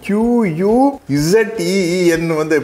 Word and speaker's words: cuisine: Cuisine, is it? In dialogue it was written C U I S I N E, But while pronouncing we have to say Q U Z E E N.